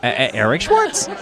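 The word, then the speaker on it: Eric Schwartz: w a r TZ just pretend you're a DJ Eric Schwarz so that's how you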